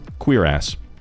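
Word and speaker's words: cuirass: In the least homophobic way possible, it is pronounced queer ass. They put that in the game. That's how it's pronounced.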